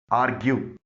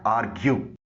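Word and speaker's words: argue: आर्ग्यू इसको आर्गू न बोलिएगा, इसकी सही प्रोनाउंसिएशन है आर्ग्यू.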